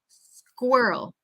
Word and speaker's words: squirrel: repeat again please squa we want kind of that uh uh that kind of back from your throat Earl Earl squirrel squirrel okay Earl Earl and that second syllable that Earl we really want it to come from our throat um Squirrel Girl Earl